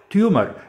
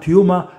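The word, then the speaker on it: tumor: نبتدي بمصطلح تيومر، انطقها تيوما، تيومر، تيوما، اللي تحبه.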